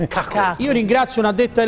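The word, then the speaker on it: Kokorin: Cacorin, ho scoperto oggi che si pronuncia Cacorin.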